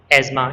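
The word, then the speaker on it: asthma: एजमा, इसके अंदर टी एच जो है वो साइलेंट है, और जैसे सिम्टम्स के अंदर भी पी साइलेंट होता है, सिम्टम्स।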